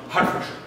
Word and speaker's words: Hertfordshire: Hertfordshire is pronounced Hertfordshire.